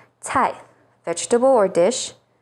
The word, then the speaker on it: 菜: C sounds like ts, as in 菜, vegetable or dish, 醋, vinegar, and 猜错, to get something wrong.